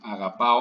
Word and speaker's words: αγαπάω: Αγαπάω, αγαπάς. So the non-changing part is this αγάπ here. And this part actually is not stressed. The stress is on the ending.